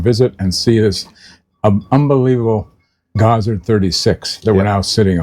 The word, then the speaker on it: Gozzard: Gazard. Yeah. So, I made a simple uh decision to contact the factory. When they answered the phone, they said Gazard.